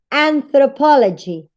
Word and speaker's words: anthropology: Again, you have po as the strongest syllable in the word. That's why it has a primary stress. And the second strongest syllable, the one that it's not so strong that po, yes, but it is stronger than the rest, than thr and g and lg, you have the secondary stress.